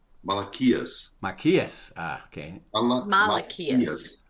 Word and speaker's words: Maiaquais: Maiaquais. Okay. Maiaquais. Maiaquais. It's like Malachi, the equivalent of Malachi.